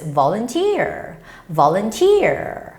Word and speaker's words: volunteer: You know, the stress goes on the third syllable, so it's volunteer.